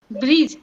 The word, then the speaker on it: bridge: Bridge. D is silent.